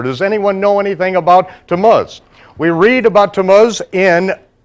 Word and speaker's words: Tammuz: Can anyone pronounce that for me? Tamuz. Tuz. Right on the biblical Hebrew calendar we have the month of Tamuz.